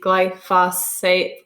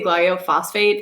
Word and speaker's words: glyphosate: roundup um guy phosphate glyphosate oh my gosh i always say glyophosphate and i know i say it wrong but it's the roundup